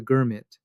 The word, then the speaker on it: girmit: In India, this became known as the girmit, a worn-down pronunciation of the word agreement, and those who went were the girmitiya.